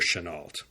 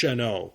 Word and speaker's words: Chennault: story of General CLA Chenal I think the correct way to pronounce it was shano but all the news re and history documentaries call him Chenal so without any feeling